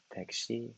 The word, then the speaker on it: 택시: But as we know, like Korean, how to pronounce, we go like part by part, like character by character, like taxi, for example, is 택시, right? 택시.